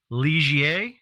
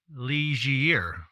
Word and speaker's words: Ligier: The new LMP3, it's pronounced. His take is, and we'll take his word for it, Ligier or Ligier. So however you want to let that roll off the tongue. Liger, for us laymen, but I'll go with Ligier.